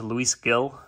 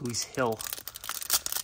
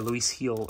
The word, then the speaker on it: Luis Gil: wrong I I was always thought it was Luis Gill but it was uh it's actually pronounced Luis Hill or Luis heel or something like that but I don't know